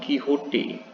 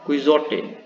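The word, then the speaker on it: Quixote: This is an extract from Nikquil Serventis great novel about the dawn kiote. Just you can see it is written pronounced as kiote. So don't read it quiz.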